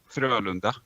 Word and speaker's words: Frölunda: Frölunda. Frölunda. Frölunda. Yeah. Frölunda. Yeah, okay, that's pretty similar to how I've been pronouncing it.